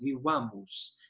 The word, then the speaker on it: vivamus: Eu sei, pelas regras de acentuação, que no vivamus, o acento vai cair nessa sílaba aqui, vá. E eu coloquei o acento de intensidade que a gente tem em português, vivamos.